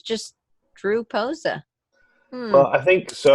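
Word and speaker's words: Pocza: I think you have to say it phonetically, right? Like it's P-O-C-Z-A. Yeah. Yeah. So it sounds like Poxa, but it's Posa. Yeah, he said it yesterday, so I know it's Posa.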